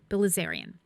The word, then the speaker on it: Bilizarian: I knew I had that name pronounced right. Bilizarian.